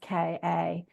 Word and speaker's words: Ka: used to call the soul the car body, pronounced Ka, and which is the part of us that incarnates into other physical experiences.